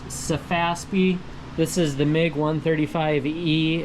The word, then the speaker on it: Sefaspe: So, again, this is pronounced Safaspi.